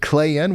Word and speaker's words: Clayton: Oh, is it Clayun without a T? Yep. Kinda like Clayun, real soft on that T.